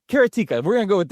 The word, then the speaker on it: Karateka: So sounds like erotica. I'm sorry. It does. Karateka.